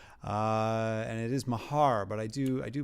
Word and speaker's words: Maher: we say chelsea's name uh and it is mahar but i do i do play ball with